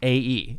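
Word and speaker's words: Æ: want to kill them AE is pronounced like ash so it's like I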